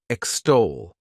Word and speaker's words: extol: The next verb is extol. to extol. This word has two syllables and the stress is on that second syllable.